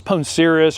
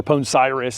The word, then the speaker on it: Poncirus: This is Poncirus or Poncirus, I hear it pronounced, trifoliata.